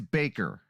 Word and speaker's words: Bakker: Moving on to Jim Bakker. It is Baker, right? Susan? Yes.